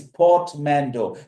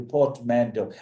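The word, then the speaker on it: portmanteau: Of course, three is port mando. P O R T M A N T E A U Portmando.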